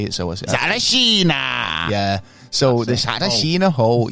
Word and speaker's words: Tsarichina: And this is what kind of allures me about the Talashima Hole, or the, I forget how to say it, so Tsarichina.